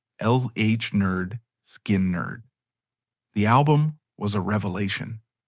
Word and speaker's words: Lynyrd Skynyrd: And in 1973, they released their debut album, pronounced LH Nerd, Skin Nerd.